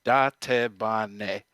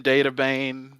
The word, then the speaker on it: Dattebane: So the actual pronunciation of my gamer tag is Dattebane.